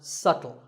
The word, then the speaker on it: subtle: this word how would you say it it's subtle the B is silent subtle means something that is difficult to notice or something that isn't obvious and once again the word is pronounced subtle another popular word with a silent letter is